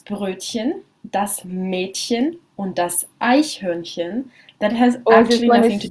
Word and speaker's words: Eichhörnchen: Und das Eichhörnchen, a very good one to practice your German pronunciation of ch. Eichhörnchen.